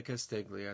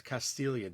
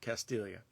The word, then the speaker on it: Castiglia: And if you see his name, it's written Castiglia, but don't say Castiglia. It's not the right way. It's Castiglia, damn it. That's how you say it, Castiglia.